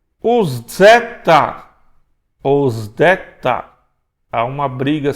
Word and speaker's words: zeta: Então, a gente fala zeta, tá? Se translitera com Z, mas ele tem som de Z, Z, Z, zeta.